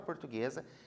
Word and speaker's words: portuguesa: mas tem portuguesa portuguesa na palavra portuguesa o g eo eu pronuncio juntos então ali é como se pronunciasse um som só certo lembra lá no